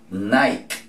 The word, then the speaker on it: Nike: Nike. Nike. La E al final no suena. La I en inglés, ¿cómo se dice? I. Entonces vamos a decir Nike.